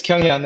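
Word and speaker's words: Kyunghyun: Yes, it's Kyung-hyun, and then the Bjorka, you had the perfect pronunciation there.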